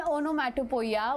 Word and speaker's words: onomatopoeia: The type is, see, many of you pronounce it as wrong. Onomatopoeia. What is the pronunciation? Onomatopoeia. What is the pronunciation? Onomatopoeia. Pronunciation is onomatopoeia.